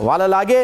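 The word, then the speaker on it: Wellalage: डेनिथ वालालागे ने जो है वालालेज, सर सोहेब साहब पहले इसको प्रोनाउंस जरा कर दीजिए clear. Proper name can be pronounce any वे, वेलालागे वैसे कहते हैं, वेलालागे, लेकिन किसी तरीके से भी प्रोनाउंस हो।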